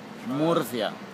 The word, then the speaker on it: Murcia: Murcia.